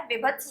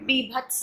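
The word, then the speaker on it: वीभत्स: से लिखा हुआ है, विभत्स लिखा हुआ है, या हम उच्चारित करते हैं, वो बिल्कुल गलत उच्चारण है। सही उच्चारण विभत्स है, ठीक है, जिसका स्थायी भाव है जुगुप्सा।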